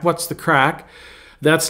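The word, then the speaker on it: craic: it was funny uh now I have a little bit of Irish in me and so you know CR a i c crack what's the crack that's not like crack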